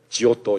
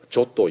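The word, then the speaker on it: Giotto: 그림으로 해석한 사람이 바로 지오 또 입니다 이지오 또 에 원래 발음 마녀 got hit 온데요 이탈리아 발음으로는 지옥도 가지고 조또 입니다 그런데 일이 지오 또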